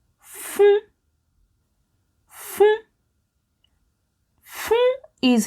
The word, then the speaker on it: fún: How to say give in Yoruba is fún, fún, fún.